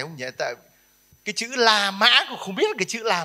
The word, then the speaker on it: La Mã: Nhưng mà người Tàu không đọc Roma, đọc là Lô Mã. Thế người ta đọc Lô Mã, mình đọc La Mã.